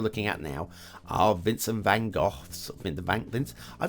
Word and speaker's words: van Gogh: golf okay listen I I'm British English so I'm gonna go with the British pronunciation we're at van Gogh van Gogh some in color see of course if you're American and you want me to go to Van Gogh then I'll have a